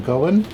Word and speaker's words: Goyan: I can identify some of them, but not all of them, the far left is Louis Straight, first row, Frank Goyan, although he pronounced his name, Goen.